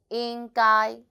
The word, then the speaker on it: 应该: hello I'm Sunny the word of today is in guy in this video I will teach you how to pronounce it how to write it and how